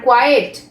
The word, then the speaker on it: quiet: আর যেহেতু এখানে টি আগে আছে, ই পরে আছে, সুতরাং এর উচ্চারণ করব আমরা কোয়াইট। কোয়াইট আর কোয়েট।